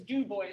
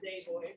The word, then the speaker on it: Du Bois: Du Bois, that's who we forgot. The boy. Du Bois. Value of agitation. All right. Oh, it's Du Bois, not Day Boys.